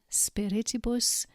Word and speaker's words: spiritibus: Spiritus, spirituum, spiritibus, spiritus, spiritibus. You'll note that spiritibus has 4 syllables, and the second syllable needs to be emphasized. Spiritibus.